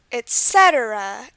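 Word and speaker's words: etc.: and the final word Etc where is the stress etc etc it's on the set and this one has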